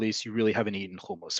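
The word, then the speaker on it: hummus: you really haven't eaten kumus first off it is is not humus it has never been humus even if you want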